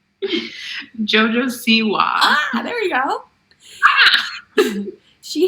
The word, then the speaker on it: Siwa: Jojo Siwa.